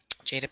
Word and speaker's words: Jada: not jaden sorry and make sure i'm going to say her name properly jade jada jada pickett pinkett she has her own